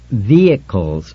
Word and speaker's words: vehicles: he had finished reading it's pronounced Vehicles Richard no h Accent on the first syllable and you don't say